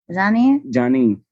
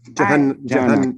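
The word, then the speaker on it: جهنم: And what's the proper Janine?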